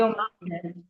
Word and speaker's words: ओम: Inhale exhale inhale exhale inhale exhale अब हम लोग ओम का उच्चारण करेंगे। इसमें अ उ म की ध्वनि से उच्चारण करेंगे। तीन बार ओम का उच्चारण हम लोग शुरू करते हैं।